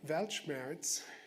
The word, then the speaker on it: Weltschmerz: If you feel Weltschmerz, I'm pronouncing it as the German word in English.